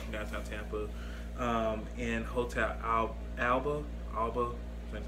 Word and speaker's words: Alba: Alba, that's how you say it.